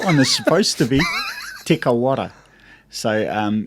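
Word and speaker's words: Te Kauwhata: is supposed to be te kawara so um it's a place up in um sort of north of north hamilton yep um so the the proper maori name is tikko te kaufata bro so uh yeah tikka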